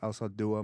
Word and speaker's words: Alzaldúa: So anyone down in Granjeno, Texas, okay, McAllen, Texas, Mission, Texas, Granjeno, Texas, Alzaldúa, Magallan. That's how you say it in Spanish.